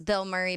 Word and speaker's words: Bilmuri: band name is Bill Murray, but it's spelled Bilmuri.